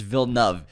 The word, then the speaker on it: Villeneuve: He was adding an extra thing in there, and after two records, like, bud, it's Villeneuve. Villeneuve, 2 syllables.